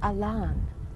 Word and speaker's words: Alain: one who came down his name was spelled Alain pronounced Ilan he got a LAN